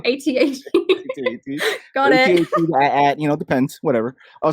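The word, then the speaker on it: AT-AT: ATAT.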